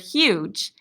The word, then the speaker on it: huge: Remember, G makes a soft sound when it's followed by an E, I, or Y. Hopefully, you're pointing to the word huge.